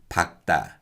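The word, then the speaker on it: 밝다: with the leo kiyokyapachan sometimes korean people will pronounce the lear rather than the kiuk in the kyopachin so with these words people might say but the correct way of pronouncing these words is ichima ichima and pakta pakta and with the kia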